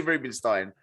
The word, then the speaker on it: Roobenstein: It's definitely Rubinstein. I'm getting that right. Yeah, it is. You've got that right, mate.